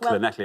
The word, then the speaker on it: Llanelli: We've got Llanelli in a few times Well now.